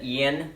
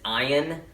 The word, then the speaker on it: Iron: set his name wrong i said ian his name isn't ian it's iron and i know i